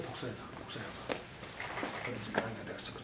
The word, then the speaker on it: 낭야: 그 지금 남아 있는 낭사대각서, 태산각서, 낭야대각서, 낭야라고 불러요. 낭야, 야라 발음도 있고 사람 발음인데 낭야대각서, 태산각서, 회계각서, 지부각서 이 산각석이 바로 이것이다.